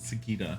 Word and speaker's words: Sagitta: suddenly remember good old sagitta and her healing herbs oh so you pronounce it sakita huh what are you